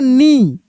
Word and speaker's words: knee: देखिए, जैसे यहाँ पे लिखा है KNEE, तो इसको हम लोग पढ़ेंगे नी।